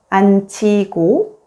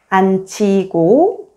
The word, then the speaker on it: 앉히고: When the 겹받침 니은지읒 is followed by a consonant 히읗, only the first consonant 니은 is pronounced, and the second consonant 지읒 is combined with 히읗 and sounds like 치읒.